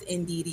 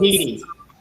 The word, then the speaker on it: Ndidi: It's pronounced Ndidi. You're very close. Ndidi.